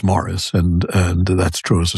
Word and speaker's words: Maurice: The British still pronounce the name that we pronounce in the French form, Maurice, correctly as Morris, and that's true as a surname as well as a Christian name.